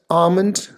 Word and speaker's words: almond: with pink flowers almond it's not almond or almond right so essentially you don't want to produce that L sound can you can pretty much neglect this L sound here so comment